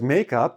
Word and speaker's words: makeup: Whereas "makeup", I'm putting the stress more on the first syllable; but generally, it's pretty neutral. It's one word. Right? So it's a... it's a two-syllable word, but with one stress on the whole word.